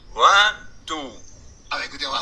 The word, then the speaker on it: Ventoux: En Corse, la voix tombe toujours sur la dernière syllabe. Ventoux.